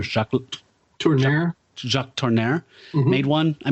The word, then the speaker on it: Jacques Tourneur: Jacques Letourneau, I forgot how to say his name. The director, Jacques Tourneur.